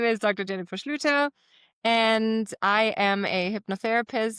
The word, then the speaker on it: Schlueter: Jennifer Schleuter. I hope I pronounced that one right.